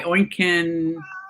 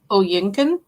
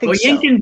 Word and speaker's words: Oyinkan: It's My Sister the Serial Killer by Oinken Braithwaite. And I probably did not pronounce that first name properly. I feel like there's another syllable in there. I think it's Oyinkan. That'll work. Oyinkan Braithwaite.